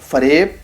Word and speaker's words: فریب: اور ایسے ہی آگے لکھتے ہیں, جیسے فرشتہ, فریب, بہشت کہ فارسی میں یہ لفظ بکسر حرف اول ہیں, مگر اردو بول چال میں بفتح حرف اول ہیں.